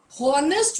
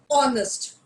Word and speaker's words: honest: highlighted is is honest if you are from this belt you will hear hornets which is incorrect if just in case you pronounce this world as honest please do not do it it is honest so honest honor honorarium